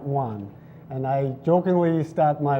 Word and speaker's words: Wohn: my name is Juan D one it pronounces exactly as if you count one and I jokingly start